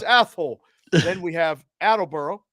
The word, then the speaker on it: Athol: Now that I say it with that in mind, it's Athol.